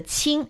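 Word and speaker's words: 青: and the right side the right component of the Chinese character ching is pronounced the ching it means green the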